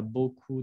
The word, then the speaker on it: beaucoup: Igual que la P de beaucoup no se pronuncia beaucoup de temps.